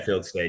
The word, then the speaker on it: Fieldstad: How do you pronounce it? Fieldstad? Yeah, Fieldstad.